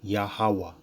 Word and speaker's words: Yahawah: But it's too hard to say Yahawah. It's a simple 3-syllable name. Okay? Yahawah.